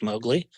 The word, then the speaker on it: Mowgli: have this uh I'm gonna pronounce it incorrectly Mowgli is that how you pronounce it that's correct Mowgli so what does Mowgli do what is the